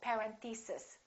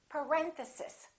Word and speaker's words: parenthesis: mistake on this one a lot of them say something like parenthesis and it's actually the second syllable it's parenthesis parenthesis next one these